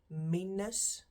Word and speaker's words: minus: the pronunciation is different then minus meanness same spelling again different pronunciation then we get to